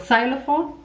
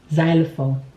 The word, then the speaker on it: xylophone: Did you say xenophobia or xylophone? Unfortunately, that is wrong. The X is actually pronounced as Z, xylophone, xenophobia.